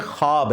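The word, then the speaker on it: ख़्वाब: नहीं आ सकता अच्छा यह लफ्ज लिखने में है ख्वाब खवा व अलिफ बा लेकिन पढ़ने में यह खवाब है वाओ साइलेंट हो जाता है ख्वाब पढ़ा जाता है ये लफ्ज उर्दू में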